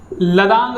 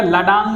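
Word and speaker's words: ladang: लदांग कहा जाता है, लदांग या लडांग भी कहते हैं इसे, लदांग लाडांग, बहुत सारे मतलब प्रोनाउंसिएशन के ऊपर है, प्रोनाउंसिएशन जगह के अनुसार चेंज होती रही, तो इसे लडांग या लदांग कहा जाता है।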